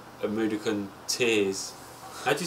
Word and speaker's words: Mudokon: It's made out of like a Mudokan tears.